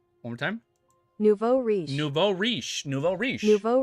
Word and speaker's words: nouveau riche: Nuevo Richie? Nouveau riche. Nouveau riche? Wow, I said that so wrong. One more time. Nouveau riche.